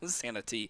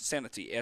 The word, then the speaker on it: Santee: Santee. It's Santee, Santee. I pronounced that okay.